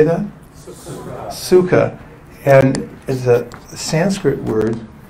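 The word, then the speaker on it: सुख: interesting phenomena here's two words this word is pronounced suka could everyone please say that suka and is a Sanskrit word which means happy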